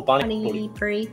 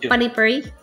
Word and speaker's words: pani puri: How do you pronounce that? Ooh, pani puri. Yeah. Yeah, pani puri.